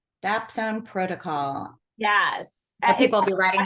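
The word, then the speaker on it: dapsone: the name of the protocol again could you spell it dbone is uh DS and d a p s o n e dap Zone protocol yes people be writing that down yeah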